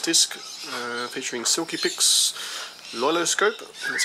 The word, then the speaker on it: LoiLoScope: a Panasonic Lumix disc uh featuring silky pcks loiloscope that's how you pronounce it and photo fun Studio 8.5 PE